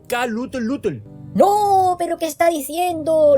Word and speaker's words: Cthulhu: bien K lutel lutel lovecraft lo pronunciaba como K lut lutel no pero qué está